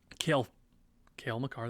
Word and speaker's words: Cale Makar: Norris is going to be a little difficult, especially with Quinn Hughes, Makar, Cale Makar, that is his first name.